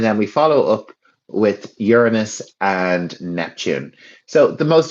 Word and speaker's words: Uranus: So, if you get stuck, you'll hear lots of people saying Uranus cuz it is spelled like that. But a nice way to say it and you the way I always say it to avoid, you know, the negative connotations is Uranus.